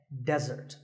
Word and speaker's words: desert: of a meal and it should not be confused with desert here the stress is on the first syllable which is death desert now I said that